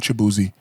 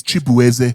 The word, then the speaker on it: Chibueze: it's not Chibuzi. It's Chibueze. Because you fucking white people don't know how to pronounce Igbo names.